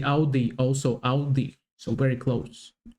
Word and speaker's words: Audi: Most Americans that I know pronounce it like I just said it, Audi. In German, we say Audi. Audi.